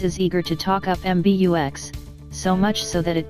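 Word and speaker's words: MBUX: MB UX for short which you pronounce MB UX rather than m bucks since the latter sounds like a Marlboro miles reboot MB UX is launching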